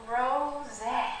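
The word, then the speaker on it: Rosé: My name is Rose. Rose, okay. That's how it's pronounced.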